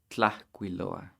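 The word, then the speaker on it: tlahcuiloa: Tlahquiloa. Tlahquiloa. 4 syllables there.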